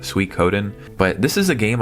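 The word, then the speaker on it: Suikoden: What I really want to highlight here is Switen 2. I think it's actually pronounced Sweet Coden.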